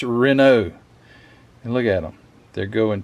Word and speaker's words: Renault: I'm an American and that's how I would pronounce it re or renal renal alt you ought not do that Matthew